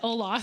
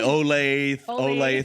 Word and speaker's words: Olathe: of his years wow Olathe that's one of those you gotta be from the area to pronounce that correctly you can tell people aren't from there exactly by that word they'll call it Olaf yeah that's right Olathe